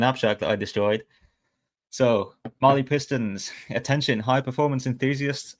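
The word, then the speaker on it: Mahle: So, Marley pistons.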